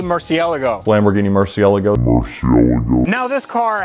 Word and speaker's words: Murciélago: my 2003 Lamborghini murciélago and yes that is the correct way to say Murcielago Lamborghini Murcielago now this